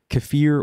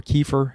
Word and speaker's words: kefir: almost anything fermented uh kefir or kefir however you want to pronounce it is is also something